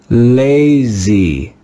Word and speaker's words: lazy: We'll read this word with the sound of the letter A in baby, baby. Let's read this word together. Lazy, lazy, lazy.